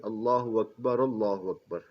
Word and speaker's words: اللہ اکبر: جو درج ہے کہ اس کا اصل تلفظ اور بہتر تلفظ جو ہے یہ اس طرح ہونا چاہیے، اللہ اکبر، ٹھیک ہے جی۔ یہ جو